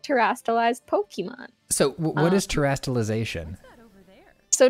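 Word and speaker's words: Pokémon: It's a little bit underground called Pokemon, or Pokemon for people who like to pronounce things correctly.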